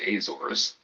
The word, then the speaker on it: Azores: Americans say Azores, a group of 9 islands in the middle of the Atlantic Ocean.